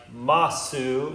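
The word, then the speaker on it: ます: Even though it looks like desu, it's pronounced des. Just like masu is pronounced mas.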